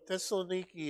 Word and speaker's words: Thessaloniki: yeah right all right so Thessaloniki is is the is the way the Greeks pronounce it now and our friend Dave